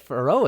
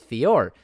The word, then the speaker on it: Fiorot: her on for row i said ferro again it's fiore good god uh fiore